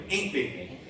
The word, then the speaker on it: Aunt Bee: Aunt Bee is how they say it, Mayberry. Aunt Bee.